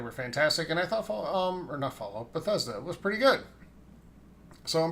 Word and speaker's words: Bethesda: I thought they were fantastic, and I thought Bethesda was pretty good. So, and by the way, it's pronounced Bethesda, not Bethesda, as if you listen to years past, you might be confused.